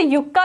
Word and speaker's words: yucca: का इंग्लिश नाम है, तो इसे युक्का भी पढ़ सकते हैं और इसे हिंदी में जो है यक्का भी लिखा रहता है। तो आप जो प्रोनाउंसिएशन करना चाहें कर लीजिए। तो ये प्लांट जो होता